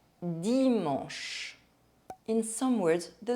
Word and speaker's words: dimanche: The letters CH make the sound sh, dimanche.